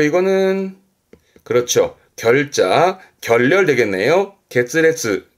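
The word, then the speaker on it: 決裂: 발음은 문레츠, 문레츠. 그리고 이거는 그렇죠. 결자, 결렬 되겠네요. 게츠레츠, 게츠레츠.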